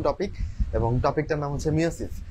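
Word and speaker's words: meiosis: এবং আজকে পড়া হবে মিয়োসিস এবং এটাকে আসলে আগে মিয়োসিস বলা হতো এখন আসলে এটাকে মায়োসিস বলা হয় আমি উচ্চারণটা এখনো ঠিক করতে পারি নাই আমার মিয়োসিস চলে আসে বানানটা একটু ভালোমতো খেয়াল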